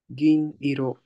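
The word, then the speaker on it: 銀色: How do you say it? Gin iro, Perfect. Gin silver.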